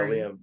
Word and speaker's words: Liam: I think exactly yeah Liam and no no worries I know it's a the name's becoming more popular so more and more people are pronouncing it but I usually get lime Tor trophy stuff like